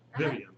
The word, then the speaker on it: Vyvyanne: Vyvyanne, is that how I pronounce it? Vyvyanne. Vyvyanne, okay.